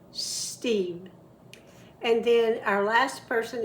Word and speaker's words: Steve: Start with the snake sound first. Steve.